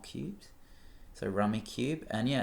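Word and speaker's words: Rummikub: cool 21 is 1980s rummy cube is how I say it it's spelled rummy cub but I'm pretty sure it's rummy cube because you play with rectangular tiles which are similar to cubes because they're rectangles but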